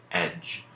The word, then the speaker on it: edge: digraphs borrowing its sound so let's look at these three words judge knowledge and edge when we are writing these words as we hear them the sounds that we hear it then we end up with judge knowledge and edge each of these has the J sound at the end that